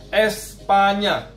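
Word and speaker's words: España: Biasa ada di huruf Espanya. Espanya. Espanya, ya. Jadi N dengan gelombang itu dibacanya enye.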